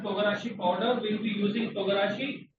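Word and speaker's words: 唐辛子: It's called togarashi. It is pronounced as Togarashi, togarashi.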